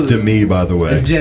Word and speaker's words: Demi: director Darren Arski I believe his name is pronounced but uh no the substance Demi Moore and I'm not sure it's Dei by the way Demi Dei